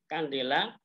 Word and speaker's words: kandela: Disingkat dengan CD, tapi ini sebenarnya bacanya adalah kandela. Kemudian ada illuminance, itu satunya adalah lux, ya pakai lux.